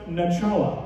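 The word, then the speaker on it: נחלה: like hebrew origin it's a word pronounced nachala all right and what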